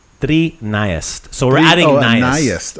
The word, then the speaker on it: trinaest: So maybe make those iest, make it flow a little bit smoother. Nice. Trinaest. Trinaest. Bravo. A little bit, yeah, just a little bit like Trinaest. kind of like a river just flowing, not so bumpy, right?